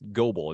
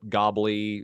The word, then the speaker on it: Goble: made out of that I see that that's Global it's not gobbly what they say you'd